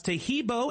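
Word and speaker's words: Taheebo: Tahibo is spelled T like Tom, A-H-E-E-B like boy. Oh, that's Tahibo, and then continue with the word tea, and then the word club.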